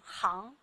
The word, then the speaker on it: 吭: 这个字念吭，不亚于狗的狂吠。